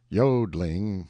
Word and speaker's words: yodelling: The yodelling pronounced yodling emphasis on the o continued and was very pleasant and inspiring to hear.